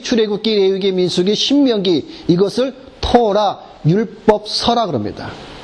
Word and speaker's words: 토라: 법은 우리가 주로 많이 듣는 히브리어 단어가 있습니다 토라 라고 좋더라 그래서 1 법은 토 랍니다 불법을